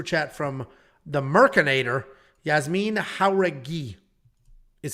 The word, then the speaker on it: Jauregui: Yazmin Jauregui is how it's pronounced.